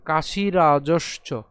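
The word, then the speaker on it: কাশিরাজশ্চ: এরপর একই রকম কাশি রাজসচ। খেয়াল করে আমরা এখানে রাজস পর্যন্ত উচ্চারণ করছি।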